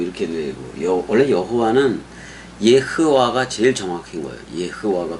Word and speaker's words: יהוה: 여호와 또는 야하외해 뭐 이렇게 되고 원래 여호와는 예허와 제일 정확한 거예요. 예허와 발음상으로 제일 정확해고 그다음에 이제 그 오면서